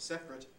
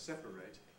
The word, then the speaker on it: separate: loss of a syllable so that separate is usually in fact set as two syllables but the verb to separate has to be three just the same thing